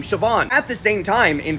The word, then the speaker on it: Siobhan: spellings, and then we get the Northern Irish pronunciation of Shane, and then the same thing happens with Joanna, which becomes the name Siobhan.